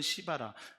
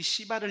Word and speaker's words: 시바: 사람이 있으니 그 이름은 시바라 발음을 잘하셔야 됩니다 정말 제가 경상도 하동이 아버님과 전라북도 전주이 어머니 사이에서 둘째로 태어났는데 제가 사투리로이 씨발을 읽으면 뭔가 욕을 하는듯한 느낌으로들을 수가 있습니다 그죠 그러나 교회에선 욕할